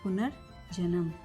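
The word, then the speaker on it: पुनर्जन्म: पुनर जन्म। ऊपर का जो र है पहले र बोला जाता है।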